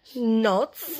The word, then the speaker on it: knots: your brain in cannot knots see that's a silent k not mm-hmm let's let's